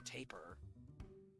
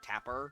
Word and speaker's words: taper: sitting next to a taper by the way can i say i lost my mind over raw boo not knowing what a taper wasn't pronouncing it like tapper i i thought that